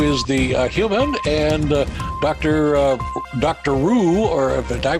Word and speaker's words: Roo: Roo, or did I pronounce that correctly, who is in the picture behind you, correct?